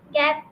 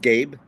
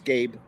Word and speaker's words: Gabe: So, uh, am I pronouncing your name right? Gab. Gabri. Yeah, it's just Gabe. It's I don't know if you most people mess it up, but it's Gabe.